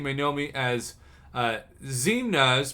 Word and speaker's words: Xemnas: know me as uh zemna's pronounced i never in million years would have got that right i usually communicate